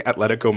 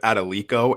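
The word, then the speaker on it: Atlético: He is saying Atletico Madrid. He said Adelico, and it killed me.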